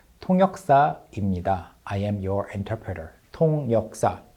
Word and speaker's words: 통역사입니다: introduces himself and says 통역사입니다. I am your interpreter. 통역사 interpreter. But he says it very naturally like 통역삽니다 instead of enunciating 통역사입니다 six syllables. He says it in five syllables. 통역삽니다 This kind of abbreviated pronunciation is also very natural.